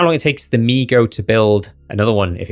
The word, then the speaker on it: mi-go: Number four, meego. Check the pronunciation by the way. It's definitely meego and not mygo, but I did think it was mygo at first.